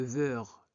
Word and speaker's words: verre: E suivi de deux consonnes, donc on prononce E, V. Ne prononcez pas le verre, non.